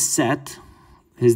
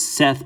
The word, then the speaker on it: Set: the last one is set his name is seth but it's actually set without the e or if you don't